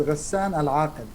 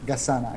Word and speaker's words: Gassan Aqel: But yeah, like I removed Al and I trimmed the H from after the G, and so like people can pronounce it easy. Yeah. So it's Gassan Aqel.